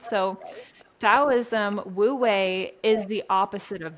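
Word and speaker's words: Taoism: is spelled taism with a t but it's pronounced dosm and that means effortless action or going with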